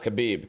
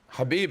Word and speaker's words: Khabib: Why do you pronounce Bad with your whole chest? But not Kabib.